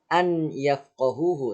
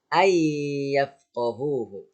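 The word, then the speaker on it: أن يفقهوه: Nah, sehingga dibacanya bukan an yafqahuhu tapi ay yafqahuhu ya.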